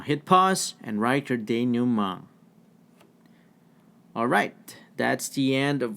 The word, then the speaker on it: denouement: This is pronounced denouement. French in origin, which means the final